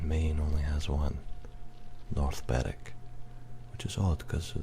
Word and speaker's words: Berwick: And as another interesting one, it's not Berwick in Scotland, it's Berwick.